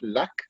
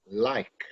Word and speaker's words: like: Not luck, like. Oh, like. L-I-K-E.